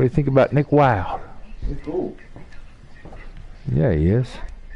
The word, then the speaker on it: Wilde: Is it Nick Wilde or Nick Wilde? Yeah, it's Nick Wilde. I think the E is silent.